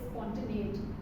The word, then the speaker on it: spontaneity: Although we could have improved on the pronunciation of spontaneity, to note again, it's spontaneity.